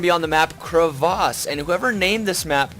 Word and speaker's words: Crevasse: be on the map Crevasse, and whoever named this map decided to make a lot of people angry. Because typically you'd say, you know, crevice, but really it's actually, this map is pronounced crevasse.